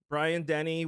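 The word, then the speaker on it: Dennehy: okay good movie it it was very entertaining Brian Denny was Brian Den is that how you say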